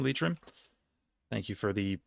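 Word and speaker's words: Leitrim: G uh Sligo Mayo lrim not LM lrim thank you for the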